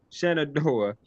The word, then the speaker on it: Shenandoah: I don't know how to pronounce this university. Is it Shenandoah? Is it Shenandoah? Shenandoah.